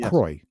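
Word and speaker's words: Croix: be yes you know they have all these extra letters and we just go Croy yeah right instead of just spell it CR that's like um Steven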